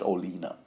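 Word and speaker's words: Olenna: of people pronounce it a lot of people pronounce it Olina so okay I guess I'll conform song whom uh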